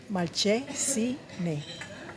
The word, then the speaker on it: Malcesine: Caminamos un rato aquí por Malcesine. Pero con S. Malcesine. Pero ¿por qué se dice Malcesine si es con S? Malcesine. Malche, porque la C de casa se pronuncia dice C primero.